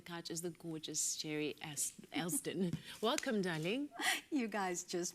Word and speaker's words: Elsdon: It's Elsdon, and I always say that's so simple. Black names are so hard to pronounce, but you always get the poor man's name.